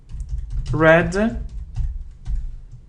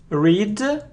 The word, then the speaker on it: read: swim swan read red red you see you see we pronounce these forms differently we pronounce these forms differently read but red red okay let's remember their